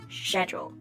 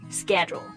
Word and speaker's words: schedule: the British schedule so the British use to soft sh sound schedule and the Americans use a sound schedule that's right schedule for